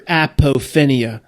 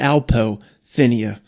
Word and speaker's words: apophenia: going to say it right this time, your apophenia. Latching on to your apophenia. Just call it alpophenia. Better than aphophenia.